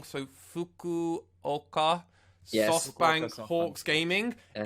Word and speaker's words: Fukuoka: That's why it's so bad that I've been pronouncing the name wrong. So Fukuoka Yes.